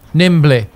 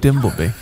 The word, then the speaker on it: Dimbleby: nimbly my name the mispronunciation of David dimbleby Nimble my name that's not not that's not his name that's so shit why